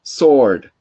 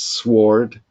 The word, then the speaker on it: sword: then using sword and here the w the sound of is silent it's like the word be in subtle the the b in subtle is very subtle or it's even non-existent sword so we don't do not pronounce sword or anything like that we say sword and the pen yeah